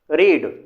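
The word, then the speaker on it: read: ए ए दी भाइयों रीड का second form और थर्ड फॉर्म रेट पढ़ा जाता है क्या पढ़ा जाता है रेड पढ़ा जाता है लेकिन स्पेलिंग वही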